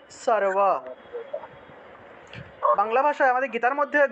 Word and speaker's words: সর্ব: মনে করুন এখানে সর্ব আছে, ঠিক আছে, এটা উচ্চারণ কী হবে, সারওয়া। সর্ব আছে, এটা উচ্চারণ কী হবে, সারওয়া, উচ্চারণটা হবে সারওয়া।